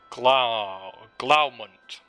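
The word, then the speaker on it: Glaumunt: Glaumund is how we say his name.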